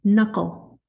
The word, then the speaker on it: knuckle: many sounds in knuckle there's a lot of silent letters in it if you know how to spell it that's why I wanted to do the sounds because it's a it's a lot different than the actual number of letters in the word okay so knuckle has